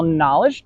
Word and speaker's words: knowledge: Well, knowledge doesn't what? The K is silent.